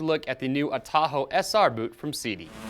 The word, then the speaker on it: Atojo: cool little background story behind this it's a lot of time in the making and the name of tahoe and yes i'm pronouncing that correctly actually comes from the